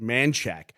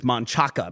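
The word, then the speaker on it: Manchaca: man and people in Austin call that street manack we acknowledge that the way we pronounce it is stupid like that's not the way that's written and we don't make fun of people who read it as Manaka because that's the way it's written on the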